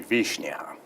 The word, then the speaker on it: Wishnia: You'd be amazed how much trouble people have with Wishnia. That's because it should be Wishnia, which is, Polish and Russian.